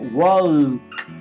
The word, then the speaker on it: walk: En inglés, la L en estas palabras es silenciosa, no se dice talk o walk, sino que tenemos que comernos la L.